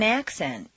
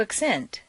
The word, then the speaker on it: accent: In the list below, change the stress from the first syllable for nouns to the second syllable for verbs. This is a regular, consistent change. Intonation is so powerful that you'll notice that when the stress changes, the pronunciation of the vowels do too.